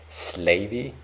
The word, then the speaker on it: Slavey: like the cre the slavey the chipa or the yeah yeah slavy people in my last Canada video I I got a comment from one of you saying that it is actually pronounced slavy because I thought for